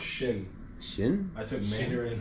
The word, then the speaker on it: Xin: It's Z I N. Zin Team. Oh, it's pronounced Shin.